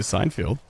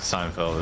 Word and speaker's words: Seinfeld: don't know dude although that reminds me of Seinfield it's Seinfeld whatever you pronounce it yeah I'm a fan of Seinfeld